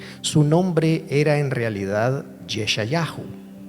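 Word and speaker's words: ישעיהו: nombre era en realidad yeshayahu Así se pronuncia en hebreo su nombre o sea se fue traducido al griego y luego al español como Isaías pero en realidad su nombre era yesha Yahoo Y eso lo que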